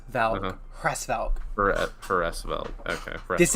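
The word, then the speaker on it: Hresvelg: Edelgard von Cressfelg. That's how it's pronounced.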